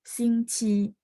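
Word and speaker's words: 星期: Jadi bagi teman-teman yang dulu pernah belajar bahasa Mandarin, ya saya tahu ya, Ci yang sekarang kita baca nada 1 ini dulu dibacanya nada 2, sistem Taiwan.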